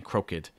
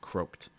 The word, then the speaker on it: croaked: get that croaked croaked make sure you're not saying crooked it's just croaked um after goose i